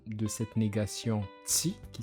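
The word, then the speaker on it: tsy: Le TS, ça a une prononciation assez pointue. C'est t. Là, on prononce que le TS. T. Ma mâchoire est serrée et les lèvres sont entrouvertes.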